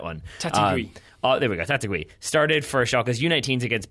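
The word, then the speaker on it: Taitague: We had somebody tweet or email us, I forget, and I apologize about how to pronounce that one. Tatigui. There we go, Tatigui.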